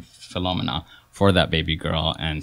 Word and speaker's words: Philomena: So I personally pronounce it Philomena. So I'm going to pronounce it Philomena from now on. That's fine. But it's one of those potato-potato situations, like Philomena, Philomena. It's a Francophone, Anglophone thing. So like both pronunciations are perfectly correct.